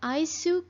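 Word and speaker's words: アイス: para falar sobre sorvete, que é o aisu. Aisu, na pronúncia em japonês. O que que acontece? Os japoneses adotaram a palavra ice cream, né, do inglês, mas com o jeitinho deles mesmo de falar. Em vez de falar ice cream, eles falam aisu cream.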